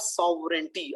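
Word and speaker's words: sovereignty: वतन के लिए, द सॉवरेंटी, अब देखिए यहाँ भी मैं बोल रहा हूँ द, क्योंकि सॉवरेंटी का जो एस है वो वॉल साउंड नहीं दे रहा, और इसमें जी है वो साइलेंट है।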